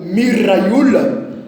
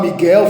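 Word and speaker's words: מיכאל: assim, que o próprio Miraiula, que não se fala Miguel, falar Miguel é errado, nem tampouco Micael. Micael é um conceito latino, no hebraico pronuncia-se Miraiula, Rafael, Gavriula e Auriula.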